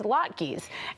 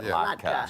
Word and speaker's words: latke: So I think we can agree that there is no incorrect way to say it. It's literally how your Mimi at home probably said it. How you know potato, latke, latka. Just don't piss off your mom.